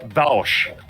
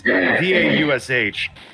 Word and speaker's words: Vaush: and prominent left-wing YouTuber Bausch. Bausch. I think it's pronounced Bausch. I don't know. It's Vaush.